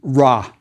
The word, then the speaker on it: Ra: the God determinative and that's Rey the sun god I bet you've heard it pronounced Raw that's fine too remember we aren't sure about the vowels the God determinative is